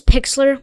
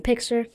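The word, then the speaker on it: Pixlr: I use Pixler. I'm still learning Pixler.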